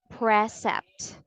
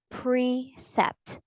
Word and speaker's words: precept: word is precept precept the stress is on the first syllable and the vowel sound is not e but e so we don't say precept but precept precept say it's with